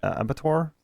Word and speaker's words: Abattoir: TRT warehouse, which we have down at our Abattoir. Is that right? Did I pronounce that correctly, Ruby?